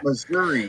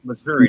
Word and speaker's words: Missouri: shock Monroe yeah Monroe Missouri it's Missouri not Missour or Arkansas about about